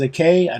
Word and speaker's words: Aki: By the way, I keep pronouncing this Ahi. I know that is a K. I know it's actually Aki or Aki, but I, for whatever reason, always see an H when I'm pronouncing that name.